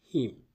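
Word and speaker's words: hymn: This is pronounced him. Him with a silent N.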